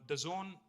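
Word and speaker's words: DAZN: and exciting company called The Zone it is pronounced the Zone but it's spelled d-a-z-n now the zone is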